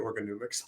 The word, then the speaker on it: Organomics: In 2019, his first book, Organomics, how do you pronounce it? I say it Organomics.